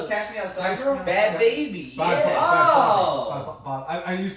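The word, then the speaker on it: Bhad Bhabie: The Bad Bobby. Baby. Is that what it is? Yes, it's Bad Baby.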